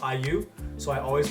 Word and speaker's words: IU: on to video for yo if you wear uni you better listen up did y'all know that